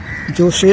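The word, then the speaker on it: José: হচ্ছে আমেরিকান তার নাম জোসে সিলভা কিন্তু জে ওএসসি জোসেকে হোসে বলা হয় উচ্চারণে হোসে সিলভা আসলে জোসে সিলভা সে একজন রেডিও মেকানিক।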